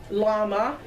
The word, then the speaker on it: llama: That's how you say it, llama.